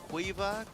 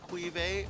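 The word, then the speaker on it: Caoimhe: Yeah, and Quiva, Quive, or Kiva, depending on how you pronounce it. It's an Irish name.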